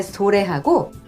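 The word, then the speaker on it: それ: 그것, 상대방 쪽에 가까울 때 소래하고 그 다음 멀리 있는 저것 할 때 아래. 해석 많이 틀리시거든요. 이거 잘 구분하시고요. 그 다음 제가 발음한 것처럼 고래, 소래, 아래는 뒤가 높고요.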